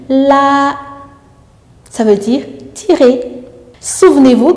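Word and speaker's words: 拉: Le temps est toujours sur la voyelle et on insiste sur cette voyelle en gardant cette hauteur, ce qui nous donne la.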